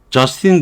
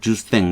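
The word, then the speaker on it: Justin: 자, 요 예문은, 다음 문장은 지금, 캐나다 수상이 저스틴 그래도 되고, 불어식 발음을 하면 주스탱 이렇게 할 거예요.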